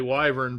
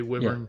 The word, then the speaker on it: wyvern: I always say wyvern, but I've heard it say wyvern. Yeah. Okay. Yeah. All right. So that's what. I've never heard it say Monday wyvern, through.